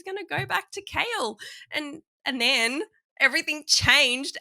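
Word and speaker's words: Chaol: was Selena and CH kale how do you say his name like I'm so confused at this point I say kale kale Kale like vegetable like Nico CH but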